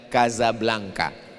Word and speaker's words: Casablanca: Tulisannya Casablanca. Cara bacanya Kazablanka. Kaza artinya rumah.